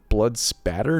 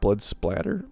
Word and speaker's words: Blood Spatter: splatter a lot but it's blood spatter not blood splatter okay well anyway that's